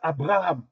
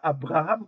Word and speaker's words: Abraham: Mais ils disent pas Abraham comme nous, hein. Il le B, il le prononce ve Alors, comment on peut